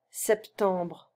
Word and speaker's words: septembre: Well, actually, we shouldn't even pronounce the P. Septembre. Septembre. Yeah, we pronounce it a bit. So, septembre. September, septembre. But it's not like a strong sep, you know. It's quite delicate.